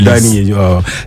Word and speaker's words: Dani: Allez, voilà, Denis, je prononce bien, non? Denis. C'est Dani. Dani.